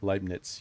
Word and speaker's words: Leibniz: Actually, it was your German and one of my favorite German philosophers, Leibniz. Mm-hmm. I don't Mm-hmm. know if that's I pronouncing it right. Leibniz, yeah.